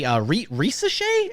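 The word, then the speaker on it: Risacher: We have one pick for Rob Dillingham from Ricky O'Donnell, SB Nation, and then one for Zachary Risochet is how you say it last week.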